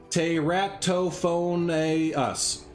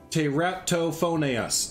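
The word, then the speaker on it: Teratophoneus: you're gonna mess this name up so it's pronounced te ratto phone a us te ratto phonaes there so this is the tereta phonets dinorama from uh from seth there so yeah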